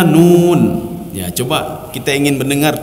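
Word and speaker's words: ن: Nun ya. Karena sebagian ada yang membaca keliru salah Pak na bacanya Pak. Jadi na itu salah ya. Jadi yang betul nun ya.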